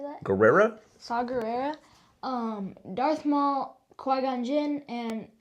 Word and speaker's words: Gerrera: Saw Gerrera.